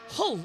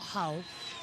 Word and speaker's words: Hull: Hull, not Hull. Hull. But yeah, you don't pronounce the H if you're from Hull.